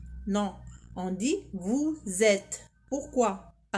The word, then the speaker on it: vous êtes: Et la 4e, on dit pas vous êtes. Non, on dit vous êtes. Pourquoi ? Parce qu'il y a une liaison.